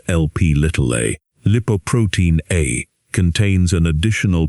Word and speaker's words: Lp(a): Another lethal genetically determined variant of apoB is lipoprotein A, pronounced LP(a).